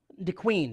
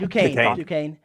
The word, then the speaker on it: Duquesne: I think I pronounced that right. DeQueen. It looks like it's all spelled like Duquesne, but it looks like, I guess it sounds like DeQueen.